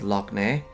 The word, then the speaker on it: Lough Neagh: So the GH is silent, but when it's a lake, then the GH is pronounced as a K. So like Ireland's largest lake is Lough Neagh, but the Lough part